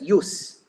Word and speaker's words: jus: justice is Jus s J us s is pronounced as you know as use J us s use use means the right